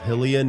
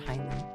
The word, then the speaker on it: Hylian: Her meow is it is pronounced Hillian or Hillian. Big talk. I've always said Hillian. I've said Hylian.